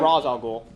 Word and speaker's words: Ra's al Ghul: Do they pronounce it correctly in They say Arrow? Ra's al Ghul.